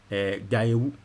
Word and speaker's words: Gayewu: bono bobi be katem said that the pronunciation is Gayewu Ns Yao Gayewu intino